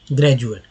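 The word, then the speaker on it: graduate: तो यहाँ पर मैंने लिख दिया वर्ड ग्रेजुएट, जिसमें डी को ज उच्चारण किया जा रहा है, ग्रेजुएट। ड उच्चारण नहीं होता है।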